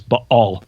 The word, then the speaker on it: Baal: spirits the warriors of Baal. Or for you scholars out there just so you know I know how to say it. It's but all there's a glottle stop in there.